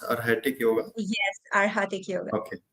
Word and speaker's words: Arhatic: She's practicing pranic healing and arhatic yoga. Is it rightly pronounced? Arhatic yoga?